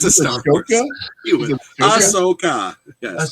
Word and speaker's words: Ahsoka: I would go Osaka. I'm not a Star Wars fan. However, Osaka is probably one of the Asuka.